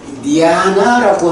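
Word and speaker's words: ñāṇa: 원어로 보면 니아나라고 하는 단어가 있어요. 요게 발음이 니아나 이렇게 되는데 요게 니아나 요 N 위에 물결 무늬가 있으면 그게 A가 붙을 때 니아라고 발음이 되거든요.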